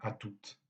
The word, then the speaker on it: à toute: Et on maintient la prononciation du T même dans l'abréviation à toutes.